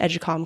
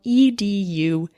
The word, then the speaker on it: Educalme: can sign up for the free trial to Educalm Classroom, which gives you the first unit of